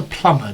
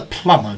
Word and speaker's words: plumber: what what does a plumber do what does a plumber do there's a silent letter in this word so what does a plumber do a plumber pipes